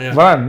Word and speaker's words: Varane: I pronounce correct. Varane, yeah.